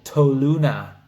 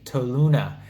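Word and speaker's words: Toluna: make money on them there's an app called tow Luna I'll spell it out for you t o L u n a tow Luna and that is an app that you can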